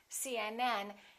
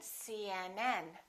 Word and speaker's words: CNN: the rule is we stress the last letter of an abbreviation for example cnn ucla